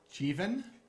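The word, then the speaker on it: Jivan: So that was Burhan Azim, Alana Mallon, Mark McGovern, Risa Metnick, Adrian Musgrave, Sumbul Siddiqui, Denise Simmons, Jeevan, Sabrina Wheeler. Rhymes with Stephen. Jeevan. Rhymes with Stephen.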